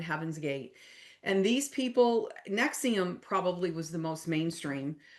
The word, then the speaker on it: NXIVM: And um Nexium. And that is spelled NXIVM if anybody hasn't heard of it. That's kind of a newer one. And then Heaven's Gate. And these people, Nexium probably was the most